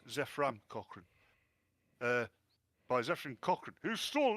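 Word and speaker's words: Zefram Cochrane: And this dickhead, in Enterprise, the Vulcans landed as before, only they were attacked by Zephyrin Cochrane, spelt with a Y for some reason. It's Zephram Cochrane.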